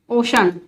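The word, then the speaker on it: ocean: किसी किसी वर्ड में सी के बाद आई ए ई ए होने पर सी का प्रोनाउंसिएशन श हो जाता है, जैसे सोशल। अब यहां पर क्या है, आई ए है ओशन, ये है म्यूजिशियन, देखिए यहां पर आई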